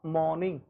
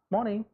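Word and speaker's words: morning: सो इट्स अ मॉर्निंग, हम लोग आर का उच्चारण जो है वो नहीं करेंगे, आर को प्रोनाउंस नहीं करेंगे। This is मॉर्निंग।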